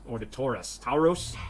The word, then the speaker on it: Tauros: But I was missing the Taurus, or the Taurus. Tauros? It's spelled T-A-U-R-O-S.